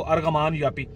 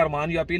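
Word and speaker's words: Argaman Yapı: किस्म के वो हैं, अरमान मतलब हम पढ़ेंगे उसको अरगमान यापी, ARGAM, ठीक है। तो वो ये जी चूँकि साइलेंट है अरमान यापी, लेकिन वो अरगमान यापी आप उसको पढ़ लें जी, अगर आप उसको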